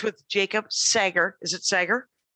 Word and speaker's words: Sager: Is it Sager? It's Sager. It's the world's weirdest name to pronounce.